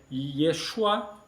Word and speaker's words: Yeshua: Jes o nome de Jesus é Yeshua mas o ye é consonantal não é um I mas é um Y consonantal tanto que foi traduzido